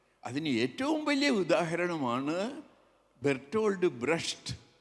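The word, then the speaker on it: Brecht: ഏറ്റവും വലിയ ഉദാഹരണമാണ് ബെർട്ടോൾഡ് ബ്രഷ് എൻറെ ഗുരുനാഥനായ അയ്യപ്പ പണിക്കർ സാർ ബ്രഹ്ത്ത് എന്നാണ് പറയുന്നത് കൃത്യമായ ഉച്ചാരണം എന്തും ആയിക്കോട്ടെ ഏതായാലും ബ്രെസ്റ്റിന്റെ എടുത്താൽ അദ്ദേഹം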